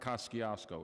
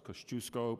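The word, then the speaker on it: Kościuszko: fattiest usko day and it's not Kosciusko it's Kosciuszko because the sisters of the holy Nazareth taught me that and how to pronounce that daddy is Kosciusko immigrated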